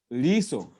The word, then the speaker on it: liso: Then the eye is liso. Liso. Liso. Some people might pronounce it liso. It's not liso. No. Liso. Liso. Not liso. Liso.